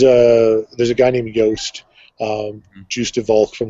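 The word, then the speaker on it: Yoast: yast honestly yeah yeah yast as in rhymes with toast um any any of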